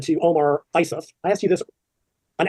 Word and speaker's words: Isuf: And Mike said to Omar Isuf, I asked you this an hour ago, and I'm still mispronouncing it. Isuf.